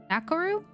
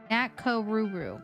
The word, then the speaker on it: Nakoruru: Nakoru? I apologize if I pronounced that wrong. Happy to have you. Join us. We're gonna start our day like we usually do with horoscopes. Nakoruru. Got it.